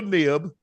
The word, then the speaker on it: Knibb: Olympic triathlete Taylor Knibb, that's how you say her name, is N-I-B-B.